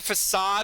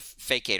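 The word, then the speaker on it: façade: to only project a facade of confidence, not doing anything to back it up. Hey, I pronounced facade right in the first try. I always try to pronounce a fakeate or something.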